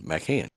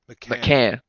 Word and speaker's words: McMahan: over Say m a c h a n, McMahan. McMahan.